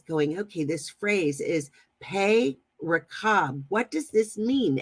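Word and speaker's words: פה: Well, 63:10 for mouth is the word pay, just like the letter pay.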